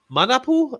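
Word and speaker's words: Manapul: That's Francis Manapu.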